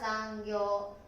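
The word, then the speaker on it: 残業: 発音は残業。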